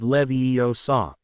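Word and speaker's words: Leviosa: Wing a r yum levio saw. Hermione shook her head. It looks like a lot of these words are from Latin. That would make it levio saw.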